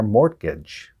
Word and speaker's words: mortgage: monthly payments on our mortgage did you hear it the wrong word here is mortgage we don't pronounce the T in it and a mortgage that is